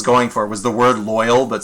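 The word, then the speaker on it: Lloyl: it that way uh lyle but with an o so it's not lyle it's loyal i think that was actually what i was going for was the word loyal that spelt weird that's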